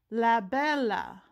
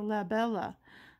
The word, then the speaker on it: Labella: and we focus and it's la bella ah i had to give it the italian pronunciation so la bella i'll have to look